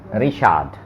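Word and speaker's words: Richard: ARV रिशाद, रिशाद ये name है। रिचर्ड, आपने नाम सुना होगा रिचर्ड इंग्लिश में, लेकिन डॉइच में उसको बोला जाएगा रिशाद।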